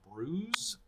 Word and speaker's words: Bruges: of Bruges in Belgium which I found out is actually I think pronounced Bruce yeah okay here we